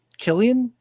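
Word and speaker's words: Cillian: murphy how do you ever say his name killian killian yeah uh no that's not true he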